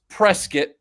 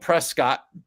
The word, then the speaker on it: Prescott: It's Prescuit like a like they say like biscuit but I say like a press kit coming from the Hollywood world.